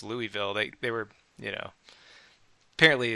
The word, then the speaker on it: Louisville: I used to say Louisville and they were like, no, it's Louisville.